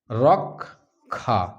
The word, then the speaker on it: রক্ষা: এরকম আরো অনেক উদাহরণ রয়েছে রক্ষা একে তাহলে উচ্চারণ করছি এরকম রক্ষা রক্ষা তাহলে কটা আগে চলে আসছে খটা পরে হয়ে যাচ্ছে এবারে আমরা চলে আসি